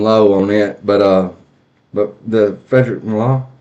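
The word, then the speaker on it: Frederic Malle: My full bottle's getting low on it, but the Frederick Malone. How do you say that? Frederick Mall.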